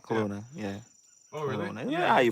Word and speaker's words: Kelowna: in Canada where where you guys think uh Kelowna Kelowna yeah yeah you pronounce it okay yes when I came to